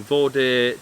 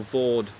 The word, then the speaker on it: Vaude: in the tent tonight it is the vorder terra trio or vaude terra trio depending on how you want to pronounce it i need to double